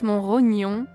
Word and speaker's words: Montrognon: était couvert de pierrier la forme moderne se prononce mon rognon deux mots mon et rognon qui ont fini pas n'en former qu'un mais sans qu'on ne prononce le thé donc il n'est pas question de trognon ici un un ancien volcan